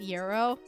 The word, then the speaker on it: gyro: It's actually pronounced gyro. It's not pronounced the way it's spelled.